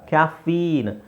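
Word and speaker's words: caffeine: ಏನಿದು ಕ್ಯಾಫೀನ್ ಕ್ಯಾಫಿನ್ ಅಲ್ಲ ಕ್ಯಾಫೀನ್ ಇಲ್ಲಿ ದೀರ್ಘ ಇದೆ ಈಕಾರ ಕ್ಯಾಫೀನ್ ಕ್ಯಾಫೀನ್ ಅಡ್ರನಲಿನ್ ಅಡ್ರನಲಿನ್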